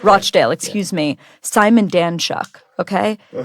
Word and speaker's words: Rochdale: a former labor MP for I hope I'm pronouncing this right rdale am I getting that right oh rdale Rochdale excuse me Simon danuk Okay one of the